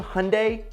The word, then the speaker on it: Hyundai: while the exact same hyundai which rhymes with sunday kona electric has an